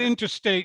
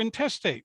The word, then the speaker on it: intestate: said to be intestate it looks like interstate without the r you're not interstate you're intestate so if you die